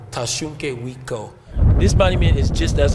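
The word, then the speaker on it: Tȟašúŋke Witkó: So in our language, we say Tashunke Witko. Tashunke Wiko.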